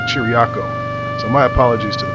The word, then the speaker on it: Chiriaco: I pronounce the town I kept saying cheerical it should be chiriako so my apologies to